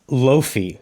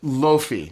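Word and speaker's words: Laufey: pronounce It's Lofi. Lofi?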